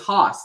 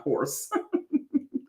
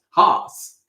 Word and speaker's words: Hoss: His name was Hoss, not horse. Oh, was that how you say it in the South? Maybe in the West? Hoss.